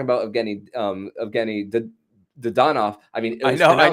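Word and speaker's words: Dadonov: you were talking about getting um evgeny the the don off i mean i know i know you had to change the pronunciation is that what i heard yeah he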